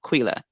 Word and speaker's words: Quilla: But whether it's spelled with a K or a Q, it's pronounced as if it's the Q. So Quila.